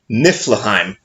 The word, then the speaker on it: Niflheim: zi m must phlegm time maybe okay and Niflheim that one I can actually say with pretty